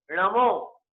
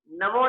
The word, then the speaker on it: णमो: मंत्र में कौन सा शब्द सही है? णमो, नमो नहीं, णमो। णमो ये शब्द एक्यूरेट है और इसे ही हमें उच्चारण में लेना चाहिए।